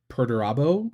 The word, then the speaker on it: Perdurabo: This is per Perdurabo, I think is how you say it. It's Latin.